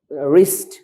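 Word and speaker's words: wrist: এটা হচ্ছে র্যাপ ডবলিউ আর এ পি রপ রিস্ট আর ডবলিউ আর আই এসটি রিস্ট মানে কবজি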